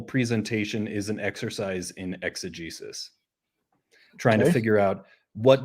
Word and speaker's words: exegesis: Exegesis, which some people pronounce exegesis, but my scholarly accent is exegesis.